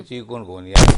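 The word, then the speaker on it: chikungunya: हाँ, तो तलफ़्फ़ुज़ प्रोनाउंसिएशन बनती है चिकनगुनिया।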